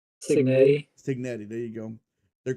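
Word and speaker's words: Cignetti: Signetti.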